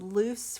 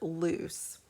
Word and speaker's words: Luce: has called this character loose the Wikipedia page indicates it might be closer to luche as a pronunciation it says she represents